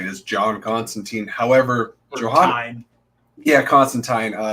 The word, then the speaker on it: Constantine: However, Constantine. Neil's out there educating all of us that apparently it's been Constantine. It's been Constantine since Alan Moore created him.